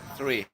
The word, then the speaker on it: three: Apalagi kayak tree itu pohon. Gini kan cara bacanya. Tree. Three. Ya, tree pohon, tree 3.